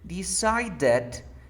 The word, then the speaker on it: decided: Here, decided, you have a D between two vowel sounds.